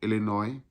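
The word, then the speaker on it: Illinois: इसका एड्रेस है 200 waste superior street, waste superior street, sweet 200, Chicago इलिनॉइस, Chicago इलिनॉय। इलिनॉय में S silent होता है तो इलिनॉय, और वहाँ का जिप कोड है 60654।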